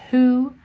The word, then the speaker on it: who: Rule 31, when a word starts with WH and is followed by an O, the W is silent, such as who, whose, whole.